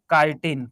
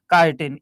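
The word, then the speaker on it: chitin: तो कार्बोहाइड्रेट्स जो इसमें होता है उसका नाम होता है काइटिन। क्या होता है? काइटिन। इसको हिंदी में भी लिख देते हैं, क्योंकि स्पेलिंग तुम लोग गलत रीड करोगे।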